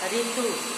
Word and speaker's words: ऋतु: ऋतु, ये हमारा अगला शब्द है ऋतु, जबकि सही उच्चारण होगा ऋतु, यहाँ री वर्ण के रूप में आया है।